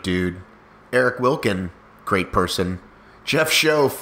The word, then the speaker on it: Schoaf: Jeff Schoaf, rhymes with loaf.